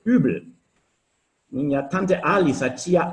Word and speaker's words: Uebel: Só que a pronúncia é muito diferente, não é Webel, é Übel.